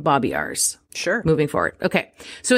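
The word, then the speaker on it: Babiarz: so enter John babiars I think that's how you say his name it's b-a-b-i-a-r-z so I'm gonna call him Bobby ours sure moving forward okay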